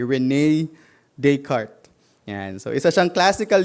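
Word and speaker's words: René Descartes: Nilagay ko po dito sa outline ko yyung pronunciation. kasi kakaiba yung spelling niya. Pero yung pagsabi pala ng kanyang pangalan ay Rene Decart.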